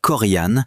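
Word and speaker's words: Corian: Korean pronounced Korean belongs in this discussion too.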